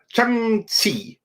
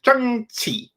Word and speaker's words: Shang-Chi: It was like Shang-Chi. Yeah, I think that was it. Shang-Chi. That's how it's supposed to be pronounced.